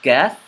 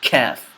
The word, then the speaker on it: Qaaf: So this is Qaaf, not calf. Another way that I see a lot of English speakers mispronouncing another word, an Arabic word that I